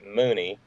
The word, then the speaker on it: Mooney: He's a Maryland dude, Alex Mooney, rhymes with Looney, and he's had a couple of terms in Congress.